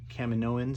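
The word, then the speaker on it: Kaminoans: know one of these camino um cam and owens is how you pronounce it so i decided to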